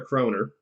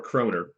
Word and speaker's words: kronor: oof yes they are they're kroner right but they're pronounced more kronor but yes you've narrowed